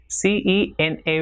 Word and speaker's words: cena: Now the sound also changes when C comes before the vowel E and I. So the sound produced in English word like same is the sound produced by C when it comes before the vowel E and I, that is say or see. So for example, CENA will be cena, and CEBOLLA will be pronounced as cebolla.